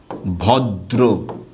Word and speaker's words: ভদ্র: আপনি যেখানে এরকম পাবেন, আপনি শুধু কি করবেন? ওই শব্দটাকে দ্বিত্ব করবেন এবং রফলা দিবেন। তখন এটা উচ্চারণটা কি হবে? ভদ্র।